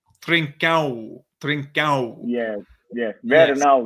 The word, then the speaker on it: Trincão: I think the right to say is trincão. Trincão.